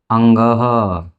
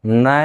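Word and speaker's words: ङ: ग घ और अंग इसका उच्चारण हम क्या करेंगे अंग न नहीं सभी विद्यार्थी पांचों के पांचों पंचम वर्णों को नहीं बोलते हैं न नहीं होता इसका चरण क्या होगा किसकी तरह होगा ऐसे अंग के समान ठीक है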